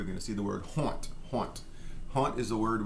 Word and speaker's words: honte: We're going to see the word haunt. Haunt. Haunt is a word we use to mean shame or embarrassment. And we do pronounce the H pretty much, everywhere.